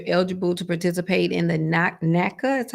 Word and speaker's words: NACA: And if your circumstance set you up that you're eligible to participate in the NACA, that's how you pronounce it, Yeah, the NACA NACA program.